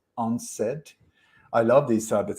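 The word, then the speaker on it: UNCED: that was called u-n-c-e-d when when you pronounce it it's unsaid i love these type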